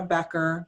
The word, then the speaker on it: Baecher: My name is Baecher, pronounced like Becker, and I'm in the TESOL program in the School of Ed.